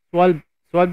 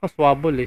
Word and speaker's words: Schwalbe: Oh, swalb lang pala yung pagka-pronounce nito. Akala ko may mali pala ako doon pag-pronounce. Sorry. Swalb lang pala. Akala ko may BL ang dulo.